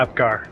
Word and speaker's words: Apgar: Yeah, Apgar.